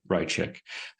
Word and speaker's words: Raichik: So first of all, I want to apologize for mispronouncing her name. It's Haya Raichik.